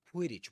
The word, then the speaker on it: Quidditch: So, it's a Quidditch match, not a Quidditch match. It's a compound noun. Compound nouns take their main stress on the first item, on the first word in the item in a quiddage match.